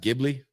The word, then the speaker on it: Ghibli: How do you pronounce it? Ghibli.